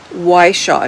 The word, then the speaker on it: Whishaw: Cove and it is written by Ionia Iona Whishaw. Now I'm going to spell that for you.